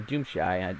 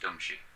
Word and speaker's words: Doomshi: chat from Doomshi himself, it is pronounced Doomshi. Doomshi. Okay. That's the way I heard it, and I was like Doomshi, but it's spelled Doom. I want to say Doom Shy because it Right.